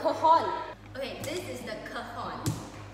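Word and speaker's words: cajón: How do I pronounce it? It's like a it's cajon.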